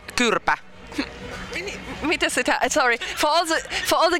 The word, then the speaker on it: Kyrpä: The next album is called Kyrpä. Really? Sorry. For all the guys out there who don't speak Finnish, what does it mean? It's old Latin. It's spelled like CYRPEA, like chirpai.